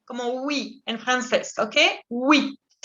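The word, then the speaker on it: huit: 8, vous dites 8. 8. La H en francés siempre es muda, al igual que en español, y la UI siempre va a ser oui, como oui en francés, ¿ok? 8.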